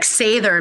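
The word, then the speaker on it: seiðr: sound, the diphthongs and the consonants, and like Sather magic. It's spelled with a D.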